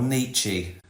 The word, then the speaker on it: Nietzsche: Nietzsche. Or Nietzsche. as Americans say.